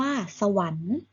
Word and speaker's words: สวรรค์: ไม้ ทัณฑฆาต กำกับ ไว้ ต่อ ไป คำ ว่า สวรรค์ 2 อะสะ หอ วอ อะ โน หวัน สังเกต